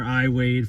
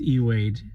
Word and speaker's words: Ey Wade: Wade for 15 years I've been calling her iwade for 15 years in this video you're about to hear me call her both iwade and eade her name is eade she's a lovely person she didn't get mad